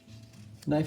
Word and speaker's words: knife: it's a sharp object knife is a tricky word because the K the beginning is a silent K so it sounds we don't hear the K but we hear the N so I'm gonna spell